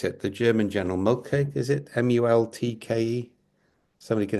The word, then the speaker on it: Moltke: I can never pronounce it, the German general Multke, is it Multke? Somebody can help me pronounce that. Who's the guy who really did the German Moltke. Moltke. Multke, that's it.